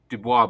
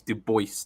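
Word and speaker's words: Du Bois: I always pronounced it Dubois but apparently his ancestry was partly Flemish not French oh so he always insisted it was Dubois not not Dubois okay I didn't actually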